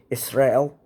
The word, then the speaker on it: Israel: Israel. You're supposed to emphasize the last syllable, so I may have inadvertently mispronounced that, and I do apologize.